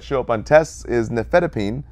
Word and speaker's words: nifedipine: Our famous three that show up on tests is nifedipine, cardizem, and verapamil. Now, difedipine ends in D-pine, so D-pine rhymes with break time, calmed and relaxed heart, lower blood pressure.